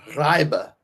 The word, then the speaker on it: Reibe: don't know if Eric Reeby is quite ready to be a contributor in year one. So how much does UConn need from Reed? We're going to have to work on your German pronunciation. Reibe.